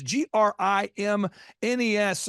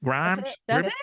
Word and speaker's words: Grimes: the final question is how do we accurately pronounce your last name because you spell your last name it's g r i m NES so someone's going grimness Grims Grimes you got it the first time if you